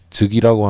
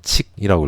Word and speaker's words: 則: 우리가 뭔가 물건을 재거나 측정할 때 그때 자를 쓰죠. 이 즉이라고 하는 거는 이거는 접속사일 때 즉이라고 읽고 요것을 이 동사이거나 명사일 땐 측 또는 칙이라고 읽어요.